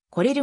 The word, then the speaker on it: コレル: 際サッカーキング具によるインタビューで来れるが正しい発音であると答えた 1991 年